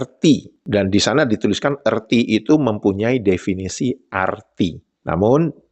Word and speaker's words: erti: Kan kalau arti, kalau di eja itu kan E-R-T-I. Jadi disebutlah erti. Bukan arti.